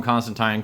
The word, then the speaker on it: Constantine: John Constantine uh and I will start trying to call him Constantine because people are oh you're gonna pronounce it the right way I get it like